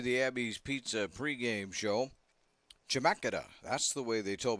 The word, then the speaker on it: Chemeketa: Chemeketa, that's the way they told me to pronounce that thing.